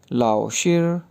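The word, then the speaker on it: 老师: जैसे LAO लाओ, लाओ, SHI शेर, तो ये वर्ड बन गया लाओ शेर, लाओ शेर, लाओ शेर।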